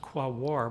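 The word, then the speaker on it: Quaoar: success here is that I pronounced qua war properly very difficult if you look at the spelling of this kbo but we would also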